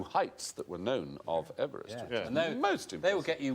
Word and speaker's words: Everest: Mount Everest because he didn't pronounce his name Everest he pronounced it Everest Everest Everest it should be M George Everest